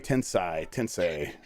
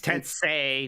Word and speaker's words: Tensei: It's Tensei, not Tensei. Tensei. Okay. Tensei, not Tensei. Like Sensei.